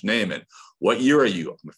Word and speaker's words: Neiman: what's your name neiman sir it's pronounced naaman what year are you